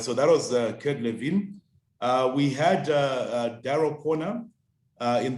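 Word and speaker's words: Kurt Lewin: generation we all know kurt levin i hope i pronounced him uh correctly it is kid levine flo yes i believe it is levine okay all right so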